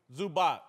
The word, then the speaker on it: Zubac: You know more basketball than me, but it's Zubac or Zubik? Zubac.